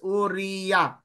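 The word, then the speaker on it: אוריה: sa gitna Okay so we read it as ur u o that is one vowel Ay sorry one syllable and then re another syllable ito Res tapos tapos ya ha Itong ito ay last syllable This is syllable so ang basa dito is uria naalala nio yung asawa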